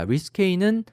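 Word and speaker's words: risqué: risque는 risque인데요. 불어에서 온 단어라서 발음도 좀 특이하고 스펠링도 특이한데요.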